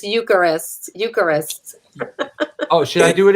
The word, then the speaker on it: Eucharist: Josh, and it's Eucharist. Oh, should I do it again? Concrete Ties, Incendiary Device, Glorious Wounds, Cooked Alive, and Eucharist. Oh, you almost had it. Eucharist.